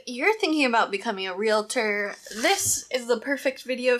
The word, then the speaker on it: realtor: And it's pronounced realtor, not realtor, not, I don't know, there's a lot of mispronunciations for it, but it's realtor.